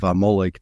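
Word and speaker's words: Amalek: in the whole biblical story of amik that's how we pronounce it um he doesn't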